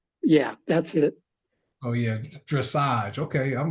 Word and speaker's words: dressage: Marcus, it's pronounced dressage.